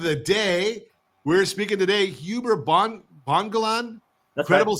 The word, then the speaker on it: Huber Bongolan: We're speaking today, Huber Bongolan. That's Credible right. CRE. Did I say it right? You got it. Huber Bongolan.